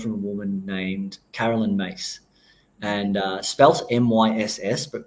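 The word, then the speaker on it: Myss: that I've learned from a woman named Carolyn mace and uh spells MSS but pronounced mace okay and what this looks into is for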